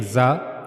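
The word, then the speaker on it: ظ: We were reading the zal soft zal but while reading zah you have to read it in a strong voice.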